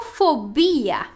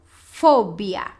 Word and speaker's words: fobia: Em espanhol, fobia. Perfeito? Claramente tem diferente sílaba tônica, né? Aqui a gente carrega a voz em fobia, em espanhol, e em português seria fobia. Então, repete.